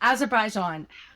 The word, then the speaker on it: Azerbaijan: As Azerbaijan Azerbaijan. Azerbaijan.